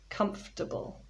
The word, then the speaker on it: comfortable: or comfortably you know if you look at the spelling it looks like it's got four syllables but actually there are three syllables comfortable a comfortable hammock the